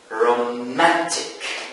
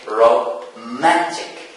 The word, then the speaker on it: romantic: Romantic. Romantic. So we have three syllables in this adjective. Romantic. Where is the stress? The stress falls on the second syllable from the end.